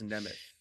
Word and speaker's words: Nemeth: I would have never thought it ended as an S sound. That's crazy. Gotta work on my pronunciation. I knew it was that's what messed me up. I knew it was a weird one, and for some reason I thought it was a TH, but it's not.